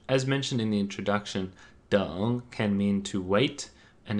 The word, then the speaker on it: 等: in everyday speech as mentioned in the introduction dong can mean to wait and it can also